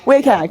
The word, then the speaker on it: WCAG: How do you pronounce it? WCAG? WCAG, okay.